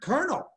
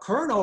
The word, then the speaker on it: colonel: But if you're talking about colonel, like the person in the military, it's spelled completely different. Why? Because it's a French word. It's not, it doesn't sound the way it's spelled.